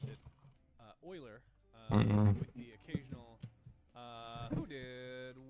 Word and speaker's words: Euler: Do you pronounce it Oiler or Oila? And all my professors pronounced it Oiler with the occasional... who did what? Hang on, my thing froze. Euler Tour, you followed me. Euler, all right, that's how you pronounce it.